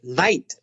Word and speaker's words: night: but they're not pronounced think of the word night for example not chi ni ght the G is silent so is the edge night so the episode on